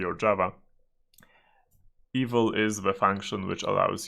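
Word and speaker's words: eval: evil us in zoomit evil and please pronounce it the same way as evil it is the proper way to pronounce it evil so evil is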